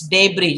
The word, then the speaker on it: debris: as debris it's not debris it's debris just please remember that s is silent there okay what else do